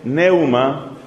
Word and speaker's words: pneuma: Espíritu se dice neuma, con una P al principio.